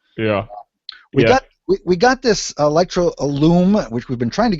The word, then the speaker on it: Illum: How do you pronounce it? What's it called? The Illum, yeah.